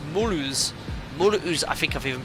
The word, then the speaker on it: Mulhouse: Oh, sorry, Mark, it's pronounced Mulhouse.